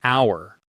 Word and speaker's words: hour: And an hour, because that H is silent, so it starts with a vowel sound.